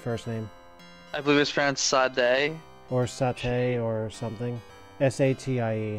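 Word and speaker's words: Satie: S-A-T-I-E, however you'd pronounce that. Sati. Eric Sati. Eric Sati. Yeah. All these years most I've been pronouncing it Sadie.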